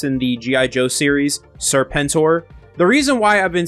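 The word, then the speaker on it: Serpentor: So, before we get into the video, I have been saying Serpentur instead of how it's actually pronounced in the G.I. Joe series, Serpenttor.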